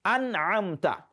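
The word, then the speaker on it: أنعمت: We have recited that word the way it has been written, an'amta. Just pronounce the noon and move ahead to the next letter.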